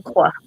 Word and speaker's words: Marquez: The qu is a C sound, not a Marquez. Marquez.